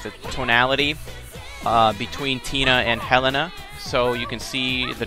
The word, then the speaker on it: Helena: Which, by the way, I always pronounce it Helena, but I'm pretty sure it's pronounced Helena. Like, accent over the first E.